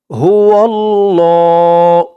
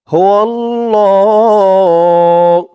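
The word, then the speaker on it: هو الله: তো বলুন আমার সাথে হুয় আল্লাহ ল বলে এক আলিফ টান দিতে হবে তাই এখানে এই যে একটি দাগ দিয়েছে হুয় আল্লাহ এক আলিফ টান যত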